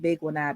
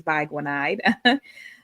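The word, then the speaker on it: biguanide: I think I said bigide before, but it's bananide.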